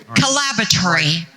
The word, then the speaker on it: Collaboratory: Collaboratory. Collaboratory if you're British. Like Laboratory, but Collaboratory.